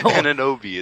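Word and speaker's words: Anunoby: It rhymes with his last name, too. OG, I don't even know how to say that. So. Ananobi.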